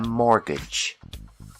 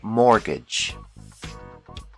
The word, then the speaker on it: mortgage: to buy a house we call this loan a mortgage the t is silent mortgage another common loan is